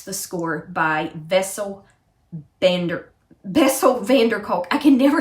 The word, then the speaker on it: Bessel van der Kolk: score by vessel bender bessel van der kolk i can never say his name bessel vanderkulk van der kolk just the way it sounds and then but peter